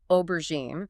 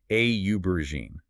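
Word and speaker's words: aubergine: With aubberine, we need to make sure the stress is on that first syllable. A uberine. And that first syllable should sound like the letter O in British English.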